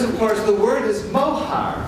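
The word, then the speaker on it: מוהר: bad accent because of course the word is mohar it's pronounced mohar and it is a word that is in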